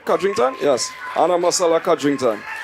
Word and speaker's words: Codrington: Anna Marella ah codrington did I did I pronounce that right kington yes Anna Marella kington well done Mr